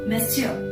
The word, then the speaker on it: Monsieur: The next one is, this word is pronounced as Monsieur.